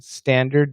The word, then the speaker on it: standard: Binit, hi Shane, could you please let me know if T is pronounced in standard? Yes. No. It absolutely should be.